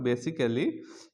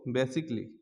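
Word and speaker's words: basically: শেষে এ double L ওয়াই থাকলেও কিন্তু এর উচ্চারণ হবে না যেমন বেসিক বেসিকলি বেসিক বেসিকলি বেসিকলি আমরা এতদিন শিখছিলাম বেসিক্যালি এখন থেকে আমরা এটা বলব বেসিকলি বেসিকলি তারপর হচ্ছে অটোমেটিক লি অটোমেটিকলি অটোমেটিকলি এতদিন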